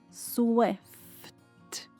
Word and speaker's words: Swift: Swift. O F e o T são pronunciados quase silenciosos. Não pronuncie Swift. Aqui a pronúncia final é sutil.